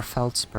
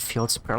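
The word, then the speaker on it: Feldspar: What does my shiplo have to say about this discovery or Felspur? I always pronounce it Fieldspur like an idiot.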